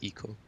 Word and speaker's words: Ico: Actually, all of Team Ico games, I'd say, have that. Oh, excuse me, Team Eco games. And, how dare you mispronounce it?